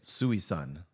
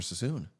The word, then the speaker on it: Suisun: There's no way they pronounce Sassoon correct. How do you think they would say it? Suisun. That's how it's spelled.